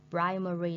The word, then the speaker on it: primary: Primary school, it means trường tiểu học. And we put the stress on the first syllable, primary.